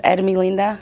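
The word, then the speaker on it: Hermelinda: Well, in Spanish, it's Ermilinda. Say it again. It's pronounced Ermilinda.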